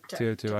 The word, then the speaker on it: Teotihuacan: How do you pronounce it? Teotihuacan.